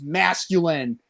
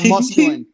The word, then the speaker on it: masculine: And he said it wrong, and then he said musculinity, and I'm like, it's masculine, not musculine.